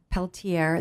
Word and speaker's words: Peltier: think okay just close okay hi I'm Peltier that's spelled l a r l and my last